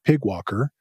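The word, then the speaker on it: PyGWalker: though since it's pyg they have a fun way of just pronouncing it Pig Walker and the project is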